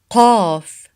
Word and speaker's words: قاف: قاف sound, it's not ka, it's ق. It's deeper than the English K sound, ka in Arabic. So it's ق ق ق. Kind of closer to the Q sound, to the English Q sound.